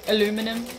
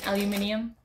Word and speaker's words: aluminium: or whatever it is aluminum aluminium wherever you're from however you pronounce it uh but i don't